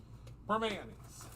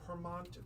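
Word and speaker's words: Primanti: you live in Pittsburgh it's permanis is what I'm trying to get out permanis it was so cute because everyone's like perant because it's spelled p r i m a n t i so everyone's like perant I said no no no no no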